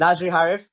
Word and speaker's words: Nadzri Harif: Nadzri Harif. First of all, did I say that correctly? It's always a thing in my head to make sure that I pronounce people's names. Nadzri Harif.